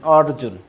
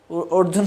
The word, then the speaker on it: অর্জুন: তো এটা অর্জুনবাচ অর্জুন বলেছিলেন অর্জুন। অনেকে বলে অর্জুন। অর্জুন শব্দটি উচ্চারণ ঠিক নাই।